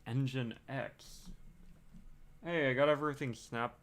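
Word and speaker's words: nginx: found out that oh apparently it's pronounced engine X hey I got everything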